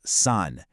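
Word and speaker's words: 三: And here is three pronounced sun. Once again, it's that high flat tone. Sun.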